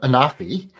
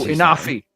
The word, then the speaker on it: Inafi: So, Anafi. Oh, Inafi. I'm sorry. I was pronouncing it wrong the whole time.